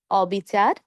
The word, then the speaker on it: অবিচার: যেমন অবিচার, অনিয়ম, অস্থির, অমূল্য, অপূর্ণ, অক্ষয়, অক্ষত, অতৃপ্ত, অদৃশ্য, অন্যায়। সবগুলো নেতিবাচক শব্দ। নেতিবাচক শব্দের শুরুতে অধ্বনি থাকার কারণে আমরা উচ্চারণ করব অ এর মতো।